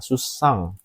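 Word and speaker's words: 出産: Susang ini susang mungkin cocok ya. Susang ini bacanya susang melahirkan. Mungkin cocok susang bukan sesang ya.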